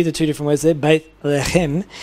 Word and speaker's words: Bethlehem: Okay, and then it gives you the pronunciation again. B-A-Y-T-H. B-A-Y-T-H dash, and then L-E-H with an apostrophe against the H, and a dash, and then K-H-E-M, Chem, Bethlehem.